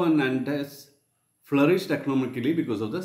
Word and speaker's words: Nantes: N-A-N-T-E-S. Nantes. Bordeaux is written as B-O-R-D-E-A-U-X. So B-O-R-D-E-A-U-X is pronounced as Bordeaux. Bordeaux is famous for its wines and grape yard, etc. So port cities like Bordeaux and Nantes flourished economically because of the slave trade.